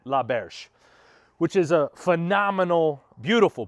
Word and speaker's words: L'Auberge: is we are at la verge la berge i think i'm pronouncing it right ask guy inside how to pronounce it pretty sure he said la berge which is a phenomenal